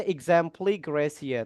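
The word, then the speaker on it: exempli gratia: Ini teman-teman untuk ini cara bacanya exempli gracia teman-teman.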